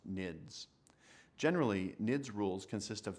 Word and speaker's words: NIDS: The term network intrusion detection system is often abbreviated as the acronym NIDS and pronounced NIDS.